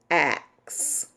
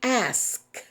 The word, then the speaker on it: ask: they use it incorrectly the word is hierarchy hierarchy a number of people I've heard say just say hierarchy and that's incorrect one of the words that just makes my skin crawl that I hear people say is the word axe it should be asked but a lot of